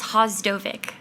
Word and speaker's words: Vhasdovic: It's Hostovvic. The first V is silent.